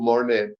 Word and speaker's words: Morné: word is with you mouret thanks very much is that how how you pronounce your name with with an accent on the E right yes mon like the French painter mon yeah okay e thank